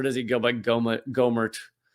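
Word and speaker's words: Gohmert: i i can see someone said that it's pronounced gomert which is the wrong way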